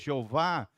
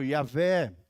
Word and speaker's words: Yahvé: Como a gente pronuncia em português, Jeová. No original em hebraico, Yahvé, ou Yová, né?